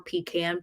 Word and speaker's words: pecan: good I love love pecan pie or pean pie depending on how you say it but peans are